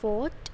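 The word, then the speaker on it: fought: verb use होती है second form होती है फॉट एफ ओ यू जी एच T third form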